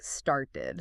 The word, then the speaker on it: started: And they point out how that t sound often becomes more like a d sound in the middle. So it sounds a bit like started.